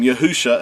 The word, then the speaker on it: Yahusha: from left to right the first three letters are pronounced as Yahoo and the last two